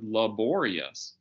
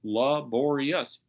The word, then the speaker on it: laborious: just an er but if you add a suffix and make the word laborious then the stress goes on the second syllable that o pops out into full life and laborious the first syllable being unstressed turns into a schwa you get nice schwas